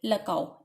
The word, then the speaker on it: LCAO: इसको हम क्या प्रोनाउंस करेंगे? लकाओ।